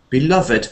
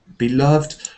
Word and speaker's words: beloved: for that um beloved beloved ah now that's interesting because sometimes participle adjectives can break that rule about not having Ed at the end beloved beloved yes that could